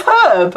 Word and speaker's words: herb: that as a notion people pronouncing the H in herb is not it for you it's herb why put a h there if you don't want us to say it that's why we call